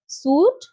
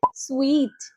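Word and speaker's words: suite: কি বলবে হোটেলের একটা রুম কি বলবো আমরা সুট সঠিক উচ্চারণ হবে সুইট সুইট নেক্সট কি আছে কাব্ড কারণ সি ইউ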